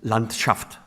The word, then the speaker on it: Landschaft: Y existe también otra palabra que también traduce el paisaje, que es landshaft. En ruso se dice acentuando la segunda sílaba, en alemán en la primera.